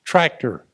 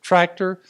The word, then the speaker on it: tractor: example John Deere tractors tractor okay spelled the same way in English and Spanish it's just pronounced differently in Spanish instead of tractor with the emphasis on the first half the word it's tractor okay motor